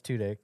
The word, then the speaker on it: Tudyk: He's Is that also how you pronounce his amazing. name? he's all yeah. It's Tudyk.